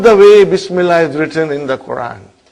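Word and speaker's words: بسم الله: If you took out B, how will you pronounce now? Ismullahi. What will you say? Ismullahi. Bring B, Bismillahi.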